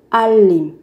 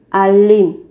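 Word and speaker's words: 알림: Alim, thông báo. Các bạn chú ý về cách phát âm. Các bạn phát âm giống như là âm L ấy. Alim, thông báo.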